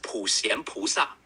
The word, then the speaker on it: 普贤菩萨: Sure, it's pronounced as 普贤菩萨. In English, you can say it like 普贤菩萨, with a gentle sh sound in xian and a soft ah sound in sa.